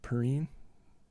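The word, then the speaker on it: Perine: You got Joe Burrow, you got Chase, you got Higgins, you got Mixon, you got Perrine.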